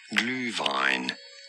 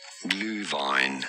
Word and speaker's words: Glühwein: Glühwein. Glühwein. In English, this is often pronounced as Glühwein. Glühwein, because the glühweins. Glühwein. I love that man's voice. What? Okay. Yeah, so that's how it's pronounced in German.